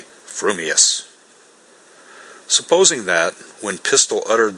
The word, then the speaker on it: frumious: your mouth and speak if your thoughts incline ever so little towards fuming then you will say fuming furious if they turn by even a hair's breath towards furious you will say furious fuming but if you have the rarest of gifts a perfectly balanced mind you will say frumious supposing that when pistol